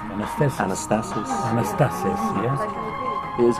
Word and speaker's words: Anastasis: Anastasis. Anastasis. Anastasis. Anastasis, yes? It is Greek. Yeah, it's a Greek, because Anastasia, it's a Greek name.